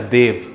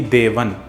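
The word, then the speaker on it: देवः: The Sanskrit word for it is Devaha. Does this mean pronouncing it as Dev or Deva is wrong? No, it is the right pronunciation if you're using Hindi or Kannada. The right pronunciation if you're using Tamil would be Devan, and if you were using Telugu, it would be Devudu.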